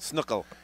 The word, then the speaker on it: Snuckel: Is it Ezra Snuckel? Snuckel.